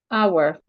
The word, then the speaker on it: hour: the H is silent hour the H is silent also when we have